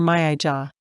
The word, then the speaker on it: Maya: Not Maya or Mayaja. Maya. Rhymes with playa like the beach in Spanish or falla, like fire, she says, gesturing.